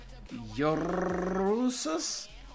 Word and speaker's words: Jesus: In the immortal words of the old South African president, Jesus, pronounce the J as Y and roll your R. The J as a Y. Yorusus?